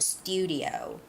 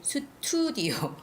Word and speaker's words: studio: and lastly the word studio studio okay a lot of koreans i know you would say tsuturdio sotudio but you have to know